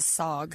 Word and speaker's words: SAWG: The SAWG.